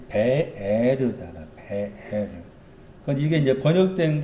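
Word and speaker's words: באר: 우물이라는 그 히브리 단어의 발음이 베에르잖아.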